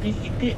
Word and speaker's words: グスク: グスクでございますお城のことをグスクぐしと読むのは沖縄の方言ですこればっかりは百